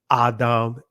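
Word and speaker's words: אדם: This is where you get the word Adam Ma, Adam Ni, or Adama Wana, which is what?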